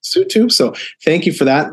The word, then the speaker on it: Lesotho: I was calling it Help Losotho, but that is not correct. It's pronounced Lesotho.